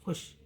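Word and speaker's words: خوش: इसे वाव के नीचे छोटी रेखा लगाकर व्यक्त किया जाता है, मतलब उच्चारण में नहीं आता। खे वाव शीन पेश खुश, खे वाव दाल पेश खुद।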